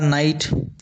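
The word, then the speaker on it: knight: उसी प्रकार नाइट नाइट में भी के साइलेंट रहता है।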